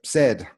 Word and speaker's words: said: here is pronounced like said yeah so it's more the sound it's more like a short e so that's a common